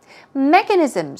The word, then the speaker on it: mechanism: beginning point of something mechanisms simply put it means technique procedure means or method keep in mind stress goes right there on the first syllable let's do it two times mechanism mechanism and reassess here we